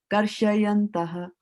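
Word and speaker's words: karśayantaḥ: Shayanta and Shyanta are two different words, right? You have to use your eyes and put your eyes on what Prabhupada has written here. If he wanted you to pronounce as Shya, then he would not have put the A over here.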